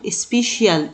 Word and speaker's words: special: عارفين طبعا ان عندنا حرف السي اي اللي ده على بعضه او سي اي بينطقوا شه، زي اقول سبيشال سبيشال سبيشال يعني خاص او مميز.